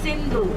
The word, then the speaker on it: Sindhu: name of, Hindi name of river Indus is Sindhu, S-I-N-D-H-U. And the Persians could not pronounce naturally the letter S.